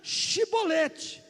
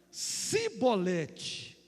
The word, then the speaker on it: Shibolete: Só que o pessoal de Efraim não conseguia pronunciar Shibolete. Eles pronunciavam Sibolete.